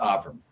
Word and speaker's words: Avrum: My name is pronounced Aram.